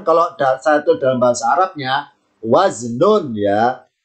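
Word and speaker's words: وزن: Ya, tulisan wazan kalau satu dalam bahasa Arabnya waznun ya. Waznun bacanya wazn. Wazn karena dibaca wakof, wazn.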